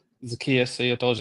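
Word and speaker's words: Zaccheaus: I believe it's pronounced Zius. Zakius. Yep. Zakius.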